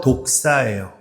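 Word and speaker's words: δόξα: 이걸 번역한게 헬라오 독사예요. 뱀 중에 독사 있죠? 그 발음하고 똑같아요.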